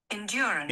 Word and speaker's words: endurance: Então vamos lá, mais uma vez, três sílabas ao invés de quatro, cinco. 1 2 3 4. Ok? Mais uma vez, endurance.